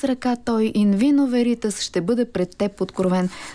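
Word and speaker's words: veritas: и виница веритас точно така как е правилното ударение наистина на лати и виница веритас веритас добре ахил е българин а така както е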